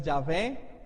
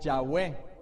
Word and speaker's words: Yahweh: Generalmente se conoce más como YHWH, aunque la pronunciación es incierta. Al final de cuentas se dice que la pronunciación es Yahvé o Yahweh.